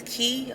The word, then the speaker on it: Quay: I think it's Key, Australia, but it's spelled Quay.